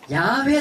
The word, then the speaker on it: 야훼: 어떻게 발음 않지 몰랐죠 어떻게 여호와 라고 우리는 왜 읽어요 그런데 야훼 라고 이렇게 나잖아요 그 야외 라는 나르기 훨씬 더 그 원음에 각각 온 것 같다라고 학자들이 이렇게 이야기합니다 근데 우리는 우리 성격이라